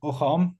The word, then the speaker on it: Ogham: so it's I probably don't pronounce it correct, but it's Ogham, right?